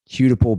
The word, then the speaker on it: Hudepohl: Hudipole beer. They did a beer can that season. So it's spelled Hudepohl is Hudipole beer.